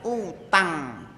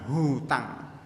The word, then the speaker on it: utang: masalah ketiga yaitu zakat utang utang enggak pakai h ya menurut ya menurut ee ejaan bahasa Indonesia yang yang disempurnakan itu pakai utang bukan hutang utang utang piutang bukan